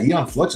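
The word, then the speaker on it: Aeon: I've never heard it let's see uh oh ion flux hell really that's how you say it yeah Eon flux is awesome what's that it's a cartoon from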